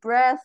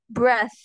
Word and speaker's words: breath: r e a t di akhirnya itu ada th th ini kalau kita eh pronounce kan dalam bahasa Inggris itu jadinya kayak gitu kalau dengar ya Jadi kalian misalnya gigit lidah gitu terus Kalian tiup gitu nah jadi gitu Breath kalau Breath itu